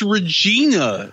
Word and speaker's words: Regina: north of Regina it's Regina no it rhymes with vagina No China when I